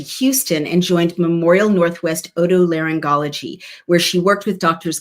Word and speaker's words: otolaryngology: Bowden, Senior Fellow Otolaryngology and Sleep Medicine.